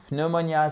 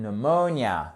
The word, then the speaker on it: pneumonia: par exemple une pneumonie ce n'est pas une pneumonia c'est une pneumonia pneumonia vous voyez à quel point le mot